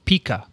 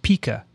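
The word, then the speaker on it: pica: that some kids have pika it's pronounced pika not pika pika is a small rodent that lives in south america there you go dixon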